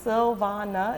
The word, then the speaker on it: Silvana: it's like i mean my mother's three syllables sylvana it's really not that